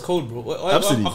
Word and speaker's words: Abcde: Her name is spelled ABCDE.